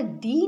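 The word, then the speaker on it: the: এবার এই টি এইচই এটা দি না দা তোমাদেরকে একটু শিখিয়ে দিই। চল। এটা সবাই আমরা বেশিরভাগ ক্ষেত্রে ভুল উচ্চারণ করি।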